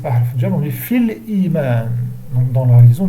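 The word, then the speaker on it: في الإيمان: Et comme le hamza, c'est pas harf jar, on dit fil iman. Donc dans la liaison, on dit fil iman. Je ne dis pas fil iman, non. Il ne prononce pas le ya dans la liaison.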